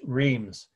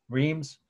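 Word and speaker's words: Reims: city in France where this is this church Reams REI Ms again re I Ms Cathedral Reams Cathedral France the location and the date is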